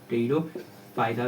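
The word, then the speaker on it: Pteridophyta: आर आई डी ओ टेरिडोफाइटा पी एच वाई टी ए इसमें जो है टेरिडोफाइटा नाम ऐसा है लेकिन पी जो है साइलेंट रहता है ये जैसे कि इंग्लिश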